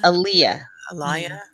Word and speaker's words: Aliyah: Aliyah.